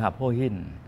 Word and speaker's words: หับโห้หิ้น: เอ่อ ชื่อ จริง ๆ หับฮู้หิ้น มี ความ หมาย ว่า เป็น ภาษา จีน นะ ครับ หับฮู้หิ้น นี่ เป็น ภาษา จีน ถ้า ออก เสียง อ่า แบบ ฮอกเกี้ยน ก็ คือ หับโพหิ้น แต่ ว่า เพื่อน ผม